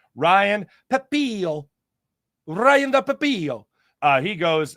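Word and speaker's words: Pepiot: Ryan Pepillo.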